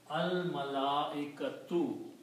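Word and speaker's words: الملائكة: So when we put in al, then we don't pronounce two dhammas, we pronounce one dhamma here. So this becomes al-malaikatu.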